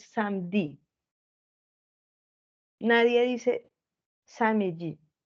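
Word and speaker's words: samedi: se escribe samj listo hay gente que dice samji hay hay gente y eso es válido listo es una variante pero realmente como ellos lo pronuncian es samdi nadie dice Sami o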